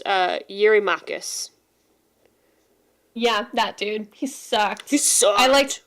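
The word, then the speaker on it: Eurymachus: My translation says that he's it's it's pronounced uh Yuri Makus.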